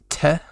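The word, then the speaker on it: て: like su uh so next is te like you're saying 10 but you leave off the end so it's just te and uh it looks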